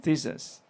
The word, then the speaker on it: Thisas: to Theses by the way how how is pronounced your name uh Tas is okay thisas so okay yeah we thought that you pronounce